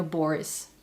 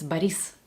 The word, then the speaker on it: Boris: The only thing that sounds a bit off to me is the emphasis in words because the name Boris, for example, in Russian, in Russia, it's never Boris, it's Baris.